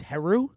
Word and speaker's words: Heru: Yes, it's Heru. Heru, yeah.